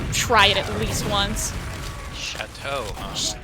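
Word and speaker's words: Shatto: it at least once chatau s h a t t o extremely good like thick creamy delicious milk it's like what milk is supposed to be and pronounced like the French word for house I mean that's how I pronounce it but I'm from the Midwest so I might be stupid I mean I'm out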